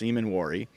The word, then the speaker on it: Emmanwori: And by the way, I've been mispronouncing his name and misspelling his name at times, so forgive me for that. I think I had I think I had an extra A in there. It's Emmanwori. So I've tried to correct that where I can.